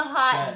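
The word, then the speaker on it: haute: In the hot 10. Zone. Hot spelled differently than hot. Like hot mama. Oh, sorry. This is spelled H-A-U-T-E. As you can see right above us, it says not H-O-T.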